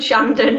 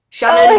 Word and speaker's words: Shandon: Well, I'm glad that you say my name right because not many people do. Oh, how do So they say it? everything other than Shandon, Oh, Shannon, okay.